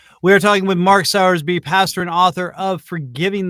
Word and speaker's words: Sowersby: And I pronounce it Sowersby. Oh, so like Sowersby, like reaping and sowing. Yeah, not like a baby pig, like Sal.